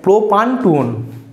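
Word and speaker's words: propan-2-one: two plus to ওন এখানেও একই রকম ভাবে ই এর উচ্চারণ আমরা করবো না তাহলে কি হবে প্রোপান টু ওন প্রোপান টু ওন প্রোপান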